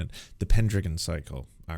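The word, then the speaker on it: Pendragon: ] I want the the actual what's the pin dragon cycle generally about I have my apologies I didn't know I was mispronouncing it the pendon cycle all right sorry the pendon cycle go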